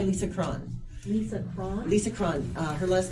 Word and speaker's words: Cron: Lisa Cron. Her last name is spelled C-R-O-N.